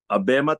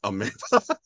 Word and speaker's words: Abema: It should be Abema, not Amoeba.